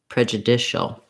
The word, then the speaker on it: prejudicial: The dicial with that dark L at the end is the same rhythm. So again, you can build from the stress syllable, trying dicial, judicial, prejudicial.